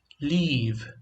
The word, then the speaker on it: leave: And this is leave, which means deixar or sair. Live, som do I bem rápido, short sound. Leave, it's longer, é mais longo.